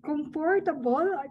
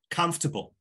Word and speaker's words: comfortable: So yeah, stress on the first syllable, and it's super quick.